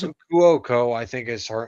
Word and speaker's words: Cuoco: Is that how you pronounce it? Kuoko, I think is how you pronounce her last name.